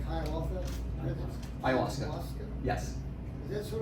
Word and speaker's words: ayahuasca: This, how do you pronounce it? Sounds like ayahuasca.